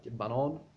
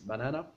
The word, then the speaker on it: banan: Banan, which means banana. But if you pronounce it banan, it means the track.